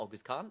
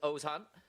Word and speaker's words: Ozan: Yep, the name is not Agus Khan. It is Ozan and Professor Salari with her linguistics course keeping us all in the loop.